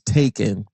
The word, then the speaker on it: Takin: Facebook and Instagram at Taking Those Shorts Pod. That's TakinNoShortspod. I know I'm spelling it like that, but phonetically it's Taken. Not like the movie with Liam Neeson, Taken, Taken, Takin.